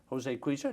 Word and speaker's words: Jose Cuisia: Jose Cuisia, did I pronounce that correctly?